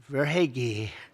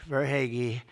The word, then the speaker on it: Verhaeghe: I said hair is right. I heard that name so much, Verhaeghe, is scoring champion, and